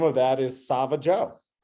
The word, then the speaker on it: Savageau: ice cream and the name of that is sava Joe it's great to say spell it for everybody who's listening it's s-a-v-a-g-a-u um